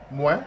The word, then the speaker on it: moi: Moi. As in moi in French.